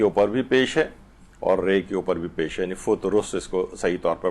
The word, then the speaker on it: فطرس: کا زیادہ صحیح اور مناسب ہے وہ ہے فطرس. فطرس بھی پڑھتے ہیں لوگ، لیکن اصل جو تلفظ ہے وہ فطرس ہے.